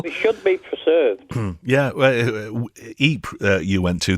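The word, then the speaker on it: Ypres: Yeah, Eep you went to. They used to the Tommies used to call it wipers, didn't they? Because they couldn't pronounce it properly.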